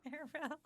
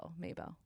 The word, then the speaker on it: Mabel: Yeah, Maribel. Isn't it Maybell? Did I say? Isn't it Maribel? No, that's how I used to say it wrong. It's Mabel.